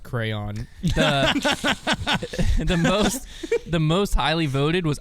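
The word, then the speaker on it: Krans: This person was saying they were hoping more consistent plan out of Paul Kranz. Yeah, That was kind of their TBU choice? last year, It's man. pronounced crayon.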